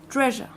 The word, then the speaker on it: treasure: But where's the stress? Treasure. In the first syllable. Why? Treasure. Yeah. Because it's a noun. And the second syllable is what? Schwa. Why? Because as the accent is not there, then it's Yes. a schwa. Normally with the second syllable of a two-syllable noun, it changes from shore, which is or, to treasure.